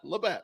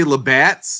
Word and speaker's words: Labatt: It's Labatt. It's No Labatt. S. Yeah, Labatt. No S. Did he say Labats?